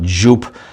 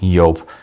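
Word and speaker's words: Joop!: Back then I just called it Jup, but it is pronounced Yope.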